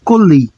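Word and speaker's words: קולי: Então, aqui basicamente eu vou pronunciar como koli. Koli, que vai significar a minha voz.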